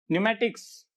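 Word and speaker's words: pneumatics: तो इन वर्ड्स को ध्यान से देखिए, यहां पी हर एक वर्ड में पहले पी आया और वो साइलेंट रहा है। नियम क्या कहता है, रूल क्या कहता है, एन और एस से पहले, कहां कहां, एन और एस से पहले पी साइलेंट रहता है, एन और एस से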